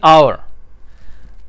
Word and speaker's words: hour: अब देखिए एन आवर, आवर की स्पेलिंग क्या है? HOUR। अब H जो है वो कॉन्सोनेंट है, तो कायदे के मुताबिक तो इसके साथ ए आना चाहिए था ना, लेकिन हम कहते हैं एन आवर।